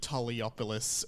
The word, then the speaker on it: Toliopoulos: And today I have time, and I'm really excited today to be joined by Cam James and ALEXEI Toliopoulos.